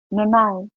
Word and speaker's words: Nonai: How is the name pronounced? Nonai. Or you can just say. But Nonai. Yeah.